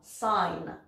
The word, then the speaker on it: sign: nentend pas ce d le G parfois ne s'entend pas non plus comme ici quand il est couplé avec un N comme dans sign le H doit se prononcer